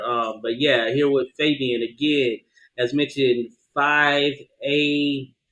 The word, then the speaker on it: 5ab1an: and my stage name my real name is fabian but that's the way i spell it is um is the stage name you know 5ab 1an and the reason